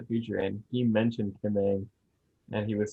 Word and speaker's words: Ng: It's pronounced Ang, supposedly.